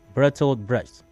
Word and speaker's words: Bertolt Brecht: Pronounce it again. Bertolt Brecht. Okay. Bertolt Brecht.